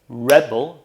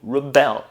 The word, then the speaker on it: rebel: is in the emphasis nouns are stressed on their first syllable verbs on their second first i'll show you british english then i'll show you american are you ready let's get started rebel rebel rebel rebel rebel rebel